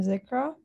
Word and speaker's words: Zikra: oh um hi yes you pronounced my name correctly hi everyone i'm zikra i'm currently a student